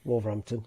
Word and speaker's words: Wolverhampton: Or as I just said to you, Wolverhampton is how we pronounce it.